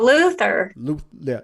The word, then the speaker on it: Luther: I'm watching Luthor. I just binged watched Luthor. I caught up to it. Idris Elba again. I caught up to that. Oh, Luther.